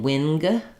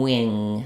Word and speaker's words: wing: out for is that the letters ng just say one sound. It sounds like ing. So if I'm saying, for example, sing or ring or wing, I'm not saying an N and a G. I'm not saying wing. I'm saying wing. So the back of my tongue is lifting.